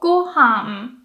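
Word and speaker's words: ご飯: So for example, gohan, that's high, low, low. Gohan. And including the particle, it stays low. Gohan ga.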